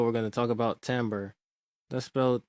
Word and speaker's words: timbre: going to talk about timbre let's b spell e in case you want to do further research it's not well we don't pronounce it the way that it is spelled it's like the word